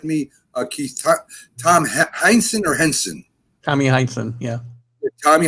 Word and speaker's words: Heinsohn: Tom Heinsohn or Henson? Tommy Heinsohn, yeah. Tommy Heinsohn, he was a former Celtic great.